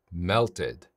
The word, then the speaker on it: melted: 예 이렇게 할 수 있고 melt 네로 끝났죠 melted 뒤로 끝났죠 하셔야겠죠 뒤로 끝났습니다 자 예문으로 볼게요